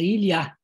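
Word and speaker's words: Илья: Ilya se pronuncia em russo como se fosse em francês, é Ilya.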